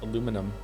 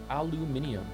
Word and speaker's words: aluminum: It's pronounced aluminum. Aluminium.